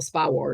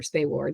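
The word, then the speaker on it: SPAWAR: war was actually still Spa war or spay War depending on you know how how uh if you're East Coast or West Coast I feel like they each had a different pronunciation for it so um but anyway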